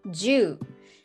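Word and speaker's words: 十: three and you see a cross which is pronounced ju that means ten so one two three or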